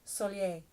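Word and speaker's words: Soleil: We have Renee, thank you Renee, and Soliel, which by the way is French for sun. However, it's pronounced Solier.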